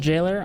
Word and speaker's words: gaoler: that Jailer is it so it actually is pronounced Jailer am I am I